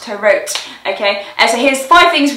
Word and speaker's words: To Rot: This week's Saint of the Week is Blessed Peter Tarot, which is spelt Tarot, but it's pronounced Tarot, okay?